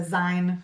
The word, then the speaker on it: zine: I had a 20-something-year-old pronounce it a Zine to me, and I had Oh, to be, okay. oh, it's zine, it's short for magazine.